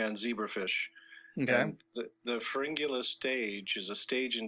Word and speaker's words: Pharyngula: It's Pharyngula.